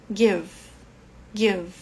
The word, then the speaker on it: give: seu doi G Given ó como Ele termina aqui em e esse e não é pronunciado tá mais um caso que a gente para a pronúncia no V give give G Ok e o